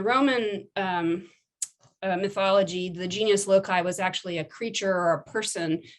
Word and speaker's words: genius loci: spirit of place which the romans called genius loci i believe that's how it's pronounced i'm not a latin